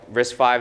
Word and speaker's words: RISC-V: there's something you know risk 5 is spelled as risk fee right so when Chris